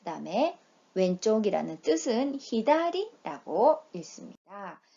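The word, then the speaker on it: 左: 좌라는 소리는 사, 그 다음에 왼쪽이라는 뜻은 히다리라고 읽습니다.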